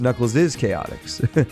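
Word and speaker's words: Knuckles' Chaotix: It is pronounced Knuckles is Chaotics. If you guys watch Jay's videos or Jay's reviews, I think he he mentions that because there's an apostrophe after the S.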